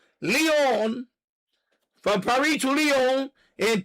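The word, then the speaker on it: Lyon: You could go from Leon, Paris to Leon, I'm pronouncing my French. Leon, not lying, Leon.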